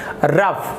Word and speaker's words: rough: तो आप इससे उसका स्पेलिंग याद रखेंगे, ROUGH रफ, यहाँ पर रॉग नहीं पढ़ेंगे। तो यहाँ पर देखिए OUGH जो लिखा है यहाँ पर, ये यहाँ पर आपका दिख रहा है वो फ उच्चारण हो रहा है।